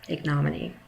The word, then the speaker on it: ignominy: Ignominy. That's how you pronounce it, ignominy.